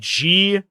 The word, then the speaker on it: Gloucester: I mean, I used to live next to a city called Gloucester, but it was spelled GLOUCESTER. They pulled the CE out of the pronunciation, and then people would correct you when you said it Gloucester.